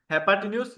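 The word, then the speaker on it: hypotenuse: आपका वो क्या होगा, हेपाटिन्यूस या हेपाटेनियस। इसको डिफरेंट प्रोनाउंसिएशन होती हैं, आपको जो आसान लगे, हेपाटिन्यूस बोल दें तो भी इट्स टोटली फाइन।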